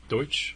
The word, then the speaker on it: Deutsch: book hereville by try to pronounce that Barry deuts Deutsch deut is it I would say so because there's like this uh television attorney named Ronnie deuts and I think it's the same spelling so I'm gonna say